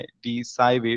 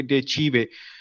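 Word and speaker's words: De Cive: एक और बुक है डे चीवे, जिसका नाम है लिखा जाता है डी साइवे, लेकिन प्रोनाउंसिएशन होती है इसकी डे चीवे, ऑन द सिटीजन, जिसके मीनिंग है।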